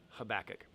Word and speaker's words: Habakkuk: jonah starts the second section jonah micah nahum habakkuk that's a crazy name but that's how you say it habakkuk jonah michael nehem habakkuk and then the last